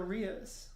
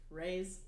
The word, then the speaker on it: Ria's: And they walked to Ria's ice cream. It's pronounced Ray's. Ray's, is it? I don't know. Just like Ray.